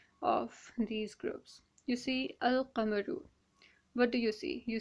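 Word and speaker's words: القمر: It's al-qamaru and not a-qamaru. And over here we have a shamsu. Why? Because well, sheen is one of those letters that possess this Laam-e-taareef silencing capability.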